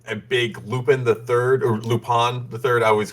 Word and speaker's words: Lupin: i've never been a big lupin iii or lupone the third i always called it lupin i know i'm mispronouncing it it's lupon uh but i've been